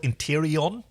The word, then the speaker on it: Interion: this this species called interon they keep calling them interon it's actually spelled interion guess it's just a pronunciation thing yeah like Alum aluminum